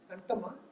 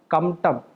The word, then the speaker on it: Kamtam: So how do you pronounce it? Kantama? Kamtam. Kamtam.